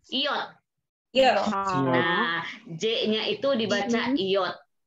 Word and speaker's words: J: Kalau huruf yang lainnya A, B, C, D, E, F, sama pengejaannya atau pelafalannya, kecuali ada J, itu dibaca apa? Ada yang tahu? Y. Ya. Yot.